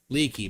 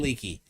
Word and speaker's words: Leake: beginning of each word brian how do you say your last name brian i don't want to say wrong leaky brian leakey is his name if you want to